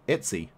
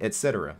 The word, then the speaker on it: etc: yeah a morality notice I pronounced the slash Etsy folder Etsy rather than etc yeah because it's easier to say as far as fewer syllables a lot of times